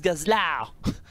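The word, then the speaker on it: Gazlowe: nom concernant gazeleux puisque en anglais ça se prononce Gazel sauf que le problème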